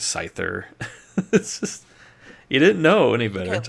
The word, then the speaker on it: Scyther: not Lu Jia and sky thir yeah I said that wrong is Scyther you didn't know anybody